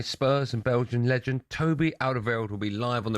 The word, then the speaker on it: Alderweireld: When we come back, we're going to be joined by Spurs and Belgian legend Toby Alderweireld will be live on The Breakfast Show right after this.